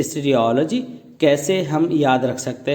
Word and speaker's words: stereology: इसकी प्रोनाउंसिएशन है स्टेरियोलॉजी।